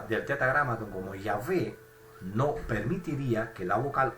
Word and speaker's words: Yahvé: Entonces dice el esclavo, oye, una pronunciación bisílaba como la que podemos ver acá, es decir, una pronunciación como la de Yahvé, que tiene solamente dos sílabas, Yahvé, pierde la Jolán, no tiene la Jolán, que sí aparece en